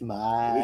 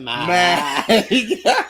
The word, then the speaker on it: Miike: Mike. It's Mike, isn't it? It's Miike. It's Mike. It's got two eyes in. You pronounce it Mike.